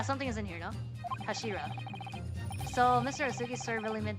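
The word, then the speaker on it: 頭: It's written as head in Japanese, but it's pronounced as Kashira, I believe. Yeah, something is in here. No, Kashira.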